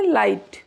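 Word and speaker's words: light: लाइट।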